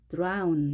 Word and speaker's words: drown: 자, 그 다음에, 자, 이 단어는 드론으로 읽지 않고요. 아운으로 읽게 됐죠? OW가 오오. 혹은 아우로 발음했는데 이 단어는 drown 이렇게 발음합니다.